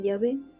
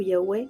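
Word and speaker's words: Yahweh: Entonces, ahora ya con esas vocales lo podemos pronunciar y lo decimos Jehová o también Yahé o Yahweé, como lo quieran leer.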